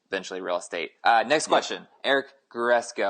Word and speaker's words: Aric: Next question, Eric Guresco. I believe it's pronounced Eric. He's got an A. It's spelled ARIC, which is interesting. I like it, but I'm gonna go with Eric.